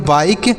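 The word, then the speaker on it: bike: बी से ब पढ़ेंगे बी से ब आई से आई पढ़ेंगे और के से क पढ़ेंगे तो इसे पढ़ेंगे बाइक और यहां पर ई साइलेंट रहेगा यानी कोई शब्द लिखा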